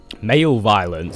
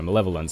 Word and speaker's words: malevolence: secured an orch Mal malevolence malevolence male violence no malevolence I believe is how it's pronounced excuse me English language